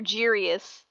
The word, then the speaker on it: Giries: So it's interesting that I have the hard G sound at the beginning, so you have the soft G sound, so you're Giries.